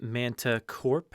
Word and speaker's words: Manticorp: Uh, Jurassic Unicast, is it not Manticorp?